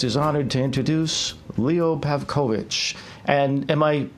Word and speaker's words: Pavkovic: Jazz Rock's podcast is honored to introduce Leo Pavkovic and am i pronouncing your name properly actually that's that's correct